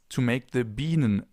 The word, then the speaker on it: Biene: I now want to show you the difference between the sharp S, the normal S or Bienen S, and the double S.